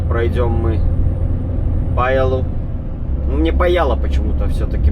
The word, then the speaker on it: Pajala: Так как говорят мне, что ударение всегда на первое, то значит будет у нас Паяла.